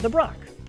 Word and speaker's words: Nibroc: Well, my first name is Nibroc, and when I was writing my email, it was cited that rock rhymes with Nibroc.